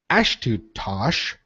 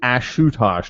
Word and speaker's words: Ashutosh: but his holiness shri ashtosh maharaja you butchered that first name no i did ashutosh not ash ashtosh okay good fair enough